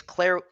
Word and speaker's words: Clare: Now that no, it's Claire, CLARE, but in this CLAIRE. I wouldn't be surprised if they just fucked up spelling it because they thought it would just be pronounced Claire.